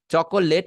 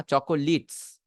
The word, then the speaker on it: chocolates: চকোলেট না, চকোলিটস। এটা আসল উচ্চারণ হচ্ছে চকোলিটস।